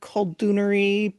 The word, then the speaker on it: Koldun: to say the other Koldunri people. Mm-hmm. I don't know what the Yeah, word is yeah. for that. I say Kolduni, so Koldunya for female sorcerers, and then Koldun for a male sorcerer.